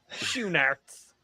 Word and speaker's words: Schoenaerts: Yes, Schoenaerts. I think it's Schoenaerts, right? It's spelled Schoenaerts. But you pronounce the E. No, it's SCHOE shoe NAERTS Narts. Schoenaerts.